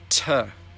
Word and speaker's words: to: To. Tuh. Tuh. We should go tuh the movies.